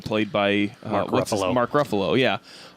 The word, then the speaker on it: Ruffalo: Mark Ruffalo, yeah. Rhymes with Buffalo. It does rhyme with Buffalo.